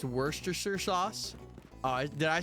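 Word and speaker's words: Worcestershire: It's pronounced worstersher sauce. Oh, did I say worstershire?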